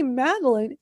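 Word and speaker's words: Madalyn: that in the dictionary so when I say maline because it otherwise it's going to spell it m a d e l i n e and it's like no that's not how you spell it.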